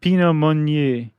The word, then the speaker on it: Pinot Meunier: the Chardonnay grape, and um how do you pronounce that last one? Pinot Meunier.